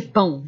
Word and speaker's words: pão: Fatia de pão. Et pão, ça se ferme beaucoup la prononciation, ok?